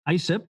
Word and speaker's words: ISIP: He is also founding member at the International Society of Service Innovation Professionals, pronounced ISIP, and sits on the board of directors there.